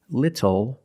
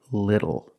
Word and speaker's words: little: f phonetically it is when you see tle e or ttle E phonetically the t is between vowels and for this reason the T changes to a fast D in American pronunciation that's why we do not say little we say little and we do not